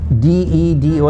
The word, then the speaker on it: dedo: The Spanish D has a very soft sound. It's not harsh like the English D's. Okay, so you have to pronounce them very softly, as in D-E-D-O is pronounced dedo. It's not pronounced dedo.